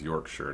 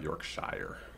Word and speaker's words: Yorkshire: Yorkshire is pronounced as Yorkshire, not Yorkshire.